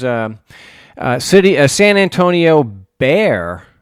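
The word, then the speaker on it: Bexar: uh City San Antonio bear it's pronounced Bear County uh this is the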